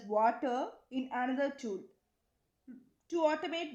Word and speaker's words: Watir: The fifth one is WATIR, which is pronounced as water in another tool to automate web browsers.